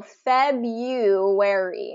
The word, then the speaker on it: February: clear um because February that R in February is silent you don't pronounce it so February and I should probably